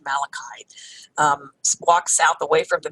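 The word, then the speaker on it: Malaquite: way south along Malakai beach i used to pronounce at malachy day but apparently it's pronounced malachite walk south away from the visitors center you'll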